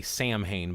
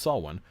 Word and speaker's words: Samhain: don't know how to pronounce it will say Samhain, but it's actually pronounced Samhain.